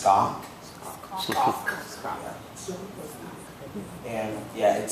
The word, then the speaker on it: skok: And to pronounce it, it's like sock, but you put a K after the S. So it's skok.